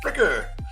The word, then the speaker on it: Friker: Is it Frier or Fricker? I was like Fricker.